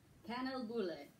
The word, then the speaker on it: Kanelbulle: How'd you pronounce that Swedish cinnamon roll? Kanelbulle.